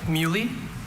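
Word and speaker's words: muhly: Uh mui. Mui. Alter pronunciations?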